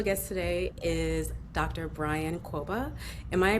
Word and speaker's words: Kwoba: Brian Quoba. Am I pronouncing your last correct?